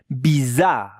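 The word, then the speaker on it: bizarre: When when I pronounce it bizar bizar weird. Yeah. Bizar. Bizar. Ones double r.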